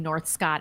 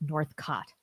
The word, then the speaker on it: Northcott: what is it Gordon It's Northcott but it's spelled it's spelled like it's I'm saying North Scott in a lot of places but it is Northcott.